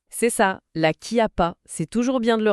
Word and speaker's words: Chiappa: Ça s'écrit avec un C et un H. Mais la prononciation locale exige vraiment un cas. Donc on dit bien la qui a pas. C'est ça. La Kia pasa, c'est toujours bien de